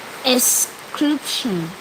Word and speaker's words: excretion: Excretion. What's the P doing in that pronunciation? I say excretion.